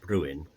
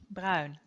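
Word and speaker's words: Bruyn: because I called George Bruin for decades. How am I supposed to pronounce his name? Bruin. Like brown. But then Brown as in as the color.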